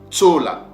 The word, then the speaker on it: Tsola: Le premier Tsola s'écrit avec le Tzadik, donc le son du TS. Tsola.